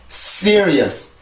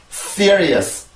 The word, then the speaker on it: serious: 일단 발음을 해보고 또 설명을 할게요. sear, sear, sear, is, serious, serious, serious.